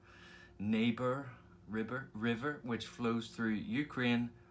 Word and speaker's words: Dnieper: I believe it's pronounced Dnieper. Dnieper River, which flows through Ukraine, Russia, and Belarus.